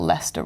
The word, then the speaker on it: Leicester: alliance and leicester and this is where i expel lester wrong please bear with me lovely people of leicester at least i'm not pronouncing it the american way we've got some other